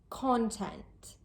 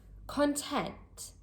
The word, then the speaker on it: content: As a noun, we say content. Content. The stress is placed on the first part of the word, the first syllable. And as an adjective, content. Content. The word stress is placed on the second part of the word, on the second syllable.